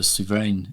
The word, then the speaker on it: Souverain: Like the chronometer Souverain is 40,000+. Good pronunciation.